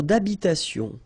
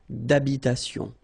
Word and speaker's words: d'habitation: Une tour d'habitation. Remember, H doesn't exist in French, well, in most of the cases, so it does mean that you don't pronounce it, all right? So, d'habitation.